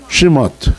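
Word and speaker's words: שמות: 출애굽기는 뭐라고 읽어요? 시머트.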